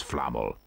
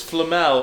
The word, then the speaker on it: Flamel: It's the fact that they're pronouncing Nicholas Flamel all wrong. Nicholas Flannel.